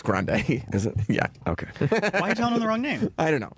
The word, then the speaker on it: Grande: Ariana Grande. Oh, Okay. you got it. Hey, Ariana Grande. Yeah. I'm kind of almost happy I don't know her name. It's grande.